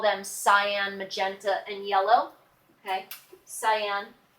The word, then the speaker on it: cyan: cyan yellow and magenta cyan is a blue it looks kind of like turquoise but we call it cyan it's spelled cya n what are the primary